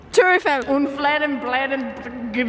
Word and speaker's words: Tour Eiffel: Wait, how do you say it? Tour Eiffel. Tour Eiffel.